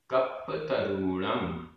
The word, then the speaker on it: कप्पतरूणं: सत्पुरुषाणम, सत्पुरुषाणम, अधपा पुरपा, सत्पुरुषाणम, दानम, दानम, कप्पतरूणम, कप्पतरूणम, यहाँ रा में बड़े ऊ की मात्रा है। कप्पतरूणम, पलाण, पलाण, सोहम, सोहम,